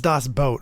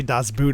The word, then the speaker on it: Das Boot: you didn't know but it's Das boat apparently that's what I thought it was always our German friend uh told us we only Americans say Das Boot apparently all right sorry Patrick Yeah and we do have a couple of fans in Germany he says that's boat you idiots uh yeah we're American